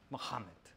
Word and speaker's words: Muhammad: Now, I know a little bit of Arabic, so I know that it's pronounced Muhammad.